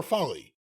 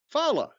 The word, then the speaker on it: Ulafala: Is it Fala or Folly? Fala. Oh, okay. It's funny if it's Folly.